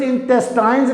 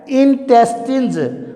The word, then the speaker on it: intestines: इसको भी यूज इंटेस्टाइन्स नहीं पढ़ना, करेक्ट प्रोनाउंसिएशन क्या है, इंटेस्टिन्स, INTESTINES, इंटेस्टिन्स, आंतें।